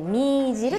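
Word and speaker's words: 女弦: 女の弦と書いてみーじると言います。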